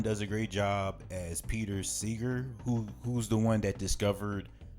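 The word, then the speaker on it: Pete Seeger: That's how you say his name, Peter Seeger.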